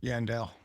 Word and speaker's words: Yandell: Yep, Yandell. Yeah, that's the way I pronounced it, but I hear Yandell at times.